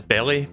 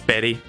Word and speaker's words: Berry: Again, that's not, you don't pronounce that as belly because of B-E-L-I. It's berry, as in berries, like strawberries or blueberries, I don't know.